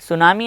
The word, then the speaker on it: tsunami: सुनामी से affected है, सुनामी actually T से लिखा जाता है, TSUNAMI, यहाँ पे टी साइलेंट होता है तो हम टी को नहीं पढ़ते।